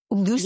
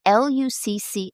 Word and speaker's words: Lucci: Lucy? Yeah. And it's Lucy? I think it's Lucci. Yeah, I think that's how it's pronounced.